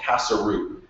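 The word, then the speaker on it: Kasaroo: So when we started to launch BuzzBuzzHome, we actually called ourselves Casa-Roo. And it was casa, like a house in Spanish, but spelled with a K. Roo, like a street in French, but spelled R-O-O.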